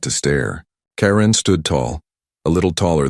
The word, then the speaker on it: Ka'Ren: Her name was Ka'Ren, not Karen, like the human name, but Ka'Ren, with a soft, rising sound at the end, almost like a musical note.